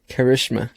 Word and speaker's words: Karishma: episode and today we have a special guest karishma can i say it correctly got it on